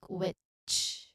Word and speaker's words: which: Now here, pronunciation tip, we think of wit, wit, wit, and then you add a soft ch sound, ch sound, sound at the end. So it would sound like witch, witch. So wit plus ch, wit, wit plus ch, witch. So link those sounds together and say it naturally, witch.